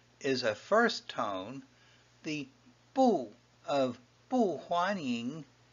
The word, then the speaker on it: 不: a first tone, the 不 of 不欢迎 not welcome.Is pronounced as a fourth tone. Bu followed by a first tone is a fourth tone.